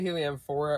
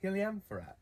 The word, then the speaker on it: Heliamphora: Heliamphora, and that's pronounced differently. We say Heliamphora around here. In Europe, I've noticed they say Heliamphora.